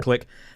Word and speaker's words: clique: We pronounce it clique here, but I try and do the American version, click.